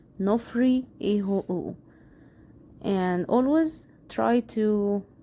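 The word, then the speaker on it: ⲛⲟϥⲣⲓ: So as you see, first letter is Ni, O, that's no, and then Phi, so that's Nof, and then Ro, Nofr, and then the Yuta, so that's Nofri.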